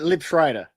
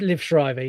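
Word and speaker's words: Liev Schreiber: Uh, Lib Shrider. You're on. I don't know if I pronounced that correctly, but you can definitely give me that. It's Liv Shrivever.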